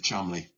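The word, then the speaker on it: Cholmondeley: spelled his name he he pronounced his name but it was it was spelled Chanderly but it was Chumley right he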